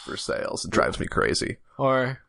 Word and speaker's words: Versailles: shameful one, Versailles. Oh yeah. And how it's actually pronounced for sales.